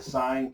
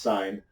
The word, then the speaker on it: sin: have we have the sine cosine and tangent sine okay it's going to be and it's abbreviated si an still pronounced sine not sin which I know a